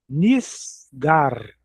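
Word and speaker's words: נסגר: N I n i s. E o cheval embaixo sem som nenhum. Ele só fechou a sílaba. Nis n s. N S. Niss. Gimel. A r de novo. G A R gar nisgar.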